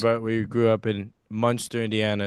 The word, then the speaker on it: Munster: but we grew up in Munster, Indiana.